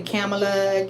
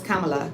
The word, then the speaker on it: Kamala: I've I have heard a lot of people mispronounce her name and say Camala Camala whatever whatever her name is Kamala Kamala Kamala everybody doesn't know how you know